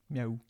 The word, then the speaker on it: miaou: It's m m i ao u meow. Okay. Yeah. So it's kind of the same sound as meow. But yeah, you almost pronounce all of the vowels actually, surprisingly.